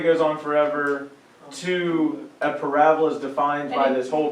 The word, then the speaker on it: parabola: If you want to pair in your mind U-shaped goes with parabola, go for it, but the mathematical term is say what, Jordan?